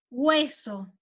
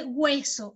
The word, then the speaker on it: hueso: Per esempio, ossa, si dice hueso, e si scrive con la H, ma non si pronuncia la H.